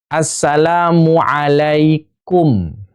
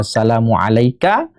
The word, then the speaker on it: assalamu alaikum: Assalamu alaikum. Ya, assalamu alaikum. Bukan alaika. Ini bukan jama'. Jadi kalau dibacanya assalamu alaika, salamnya belum sah, harus diulang.